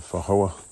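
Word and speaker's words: feijoa: I think it's a fahoa. That's what it's called. Spelled like fajoa, but.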